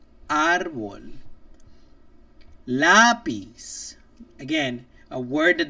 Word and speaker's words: árbol: So if you look at a word and it doesn't end with a vowel, an N, or an S, and it stresses and then it stresses the accent mark on the second to last syllable.